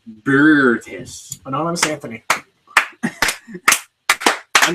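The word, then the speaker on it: Boötes: It's pronounced B and an O with that little umlaut over it. In German, there's another O without it. TES. It's like Bertis.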